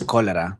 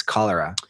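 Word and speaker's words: cholera: It's spelled as ch. C H O L E R A. In Spanish it's Kolera, but it's Kalera.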